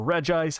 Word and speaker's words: Regice: this next one but my favorite ice type Pokemon is Reggie ice or Regice however you'd like to pronounce it I'm going to pronounce it Reggie ice because everything else is a Reggie and he's not so Reggie ice it is and yeah gen